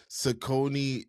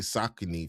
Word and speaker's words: Saucony: So it's just Sakonei is You say Sakone, you're going to say Sakin from now on. Sakin. Yeah. Sakone. That's for peasants.